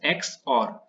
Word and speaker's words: XOR: It's pronounced as XOR.